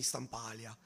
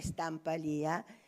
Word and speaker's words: Stampalia: del Botta alla Querini Stampalia. Vabbè, siamo onesti, tra Carlo Scarpa e la Querini Stampalia, impariamo l'accento perché tutti dicono Stampal e invece no, è Stampalia.